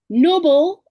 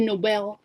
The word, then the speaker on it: Nobel: Noble is the act of moral, having high standards. Nobel is after Alfred Nobel, of who came up with the award, the Nobel Prize, pronounced Nobel, not noble.